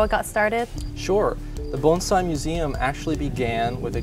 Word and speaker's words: bonsai: sure um actually the first thing is it's pronounced bonai not Bonsai many people that's right many people have heard